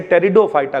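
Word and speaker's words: Pteridophyta: अच्छा, पी यहां पे साइलेंट है, इसे टेरिडोफाइटा ग्रुप कहते हैं भैया, ठीक है।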